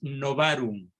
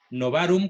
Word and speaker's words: novarum: y las segundas palabras novarum novarum no varón con terminación en m con v no van a ver